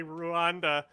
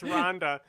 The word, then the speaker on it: Rwanda: first and he kept hearing the guy say ruanda as Rhonda and it planted a